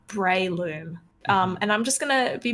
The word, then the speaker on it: Breloom: looked it up in the anime it is pronounced as I've been saying which is Breloom really okay before I started before I looked